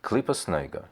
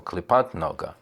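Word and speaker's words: קליפת נוגה: namely a fourth Kelipah called Kelipos Noiga. I'm pronouncing it in the Ashkenazic way, or Kelipat Noga.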